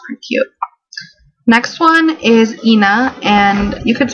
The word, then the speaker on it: Ina: I think there's an alternative pronunciation of Ina, but I think that sounds stupid. I like Ina a lot better.